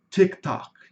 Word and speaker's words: TikTok: Em português, nós temos o costume de colocar o i no final de todas as palavras, principalmente de palavras em inglês. Por exemplo, YouTube, Facebook, TikTok. Em inglês, a pronúncia é bem diferente.